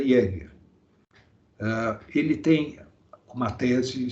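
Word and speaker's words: Jaeger: o Pier Justo Jeger, é um sobrenome alemão, já que se pronuncia Jeger.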